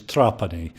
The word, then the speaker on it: Trapani: tell us their pronunciation the correct pronunciation is trapani we're actually from Sicily originally and most people call me trapani but I really don't